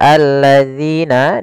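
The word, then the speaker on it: الذين: tasditkan di huruf lamnya Kemudian pada lafal alladziina di sini dzi hati-hati jangan dibaca dengan Zai Kemudian pada lafal zzi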